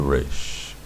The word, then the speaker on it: resh: For your purposes, learning the language from the beginning, pronounce it like you would pronounce any other R, or any other word with an R sound in it.